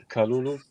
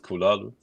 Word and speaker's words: Kalulu: by the way, Dave, you're always writing his name wrong with Kulalu. It's Kalulu. Kalulu. Yeah. Add another variable. I didn't add a syllable. I just swapped some U's and A's, some vowels.